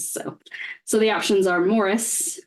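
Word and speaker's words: Maurice: so the options are Morris which is spelled like morrice from 19 1987 starring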